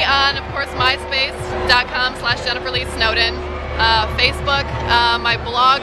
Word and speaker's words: Snowden: And the site for that is http:/Jennifer Lee Snowden, like a den of snow, and Lee is spelled like the boy's name.